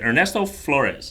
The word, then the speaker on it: Ernesto Flores: But all right, anyways, just to let everybody know, we have is it Ernesto Flores? Is that correct? Yep.